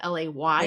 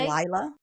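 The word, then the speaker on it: Laila: Layla is spelled L-A-I-L-A instead of L-A-Y-L-A. They call her Lila? Everyone calls her Lila, which I actually did on purpose. Long story. But I'm just like, it's Layla.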